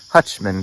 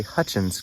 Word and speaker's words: Hutchins: at the map that i've been pronouncing the creek wrong i've been calling it hutchman creek but it's actually hutchins creek so for those of